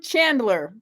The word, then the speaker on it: Chandler: I just asked him his last name how to pronounce it and I forgot it. Chandler.